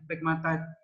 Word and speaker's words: pegmatite: Nah, ini yang cukup bernilai tinggi nih yang pegmatite. Pegmatite ya bacanya pegmatite.